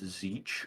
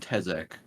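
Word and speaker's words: Tzeentch: I wanna that I learned how to pronounce zeech and slanesh correctly because I called them slashing and tezek I love it to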